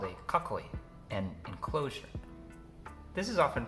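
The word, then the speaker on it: 囲い: exists in Japanese a castle is called a kakoy an enclosure this is often pronounced kakoy when put after another word for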